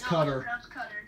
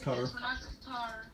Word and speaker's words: Qatar: of from my special guests awesome no it's cutter it's pronounced covered no its cutter cutter what's up Scott its